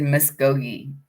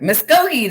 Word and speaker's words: Muskogee: that that was a i always said miss gogi i didn't know what it was saying i was just i know that song though don't i i know it you don't know how to spell it and i don't know how to say it oh my god muskogee that's what i thought see i was right muskogee yeah yeah yeah so